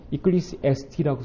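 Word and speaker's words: Ecclesiastes: 이 책의 영어 명칭이 발음하기가 좀 쉽진 않은데요. 이클리시에스티라고 하는데요. 이건 영어가 아니라 사실 이제 헬라어를 통해서 나온 말입니다.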